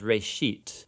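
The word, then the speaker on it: ראשית: of it's called genesis genesis comes from a hebrew word it's pronounced reishit and it just means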